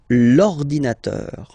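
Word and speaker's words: l'ordinateur: second case ordinator well you can see that it starts with the vowel o okay and as I said you know a and o they don't get along that well so you get to take this uh away and then you get this l inator linator all right and third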